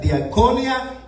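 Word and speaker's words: διακονία: don de servir es la palabra griega diaconia así se pronuncia diaconia y que se define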